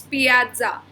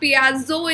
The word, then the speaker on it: piazza: Okay, so it's not pizza, guys, it's piazza. It's not piazzo, it's piazza.